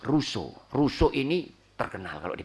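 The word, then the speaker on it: Rousseau: Insyaallah tahu tetapi tap Biasanya kita bacanya rosiao Ya jin jakues rosiao Nah itu orang Prancis bacanya John shak ruso ruso ini terkenal kalau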